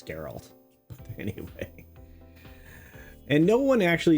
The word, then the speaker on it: Geralt: much everybody's favorite person for geralt or Gerald however you want to pronounce it it's on you to me it's geralt anyway and no one